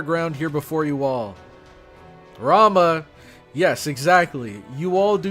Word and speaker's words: Rama: god or goddess, but I'm pretty sure many of the gods whose names end in A, you don't pronounce the A. So it wouldn't be Rama, it'd be Ram.